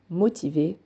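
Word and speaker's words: motivée: on rajoutera un e cela ne changera pas la prononciation mais se verra à l'écrit motivé continuera à se prononcer motiver pour assidu c'est la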